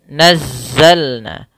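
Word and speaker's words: نزلنا: thi'i kemudian nazzalna nazzalna suara Zai harus keluarkan dari ee yaitu Sisi lidahnya di antara Gigi atas dan Gigi bawah maka dia di tengah-tengah kemudian mengalir suara di dalamnya yaitu sifat saofirnya safir mengalirnya desisan nazza nazza ditekan karena dia Za tasdid nazzalna kemudian ada Na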